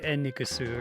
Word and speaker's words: Enix: I guess the problem is like every time I see the name Enix, I'm not going to say Eniku, right? Like I'll say westernize it in some way.